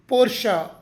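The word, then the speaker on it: Porsche: ತಯಾರಿಸಿದ ಸಂಸ್ಥಾಪಕರ ಕುಟುಂಬದ ಹೆಸರು ಜರ್ಮನ್ ಭಾಷೆಯ ನಿಯಮದ ಪ್ರಕಾರ ಕೊನೆಯ ಈ ಅಕ್ಷರವನ್ನು ಸೈಲೆಂಟ್ ಮಾಡದೆ ಆ ಎಂದು ಉಚ್ಚರಿಸಬೇಕು ಅದಕ್ಕೆ ಇದು ಪೋರ್ಷ ಪೋರ್ಷ ಪೋರ್ಷ ಮುಂದಿನ ಶಬ್ದ ನೂಟೆಲ್ಲ ನೂಟೆಲ್ಲ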